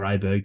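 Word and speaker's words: Åberg: It seems remarkable to say, but Ludwig Aberg or Aberg, depending on your tendencies for pronunciation, he's literally coming in off a win at the European Masters.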